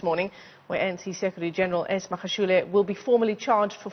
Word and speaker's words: ENSafrica: Stephen, I don't think I'm pronouncing your firm's name correctly. Is it ENSAfrica?